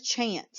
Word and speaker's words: chance: But our last C in the word chance is going to make that soft C sound s because it's followed by the E. So this word is chance.